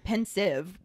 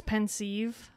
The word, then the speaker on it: Pensieve: i say pensive because it's the combination of the word pensive spelled p-e-n-s-i-v-e and a sieve which is spelled s-i-e-v-e